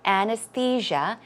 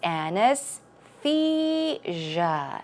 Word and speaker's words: anesthesia: of liquid and finally anesthesia it's Ana's see ya okay anesthesia anesthesia good job let's now